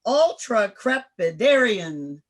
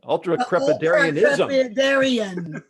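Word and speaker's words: ultracrepitarianism: this is for you ultra crepitarian yeah no you missed a syllable right ultra crepitarianism which means the giving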